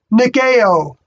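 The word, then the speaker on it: nikaō: And it's spelled Nikao in the Greek, and it's pronounced Nikeo.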